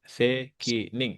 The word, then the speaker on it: 責任: Sekining ya. Sekining ga. 責、お母さんは責任があるから厳しいと思いますね。うん。えーっと、うん。kita pakai 責任。うん。はい、責任ね。これじゃないと思うけどな、漢字。ちょっと待ってね。漢字が違うと。そうだね。責任。これが責任という呼びますね。責任bacanya itu kanjinya. Terus itu bacanya sekining.